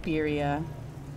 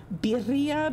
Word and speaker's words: birria: I say it like birria. That's like the gringo way to say it.